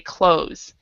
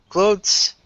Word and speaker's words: clothes: So the THE is silent. So we would say close.